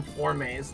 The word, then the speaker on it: Forme: I'm sorry what um the proper pronounciation of a Deoxys for is for cuz it's f o r m e but like in the like the French pronunciation or uh Spanish so nobody expects punish